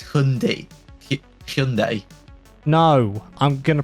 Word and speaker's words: Hyundai: There's a Hyundai i30N. There's a Lotus Emira. There's the Mazda MX-5 ND Cup. What? Tom, have you not heard the adverts? What? It's not Hyundai. Oh, for God's sake. It's Hyundai.